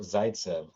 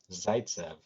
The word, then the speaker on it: Zaytsev: you say your last name sure it's zaitsev zaitsev i love it ukrainian name ukrainian jewish yeah